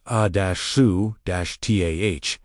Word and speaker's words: Asuta: The Aramaic discipline of speaking Asuta, pronounced ah-soo-tah, not as a request sent outward, but as a recognition spoken from the interior.